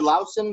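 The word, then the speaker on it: Loosen: has, so this is Dr. Lucin or Dr. Lausen. That's how it's pronounced over there.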